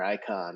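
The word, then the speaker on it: Icahn: it I can or icon it's like icon Carl icon yeah I can okay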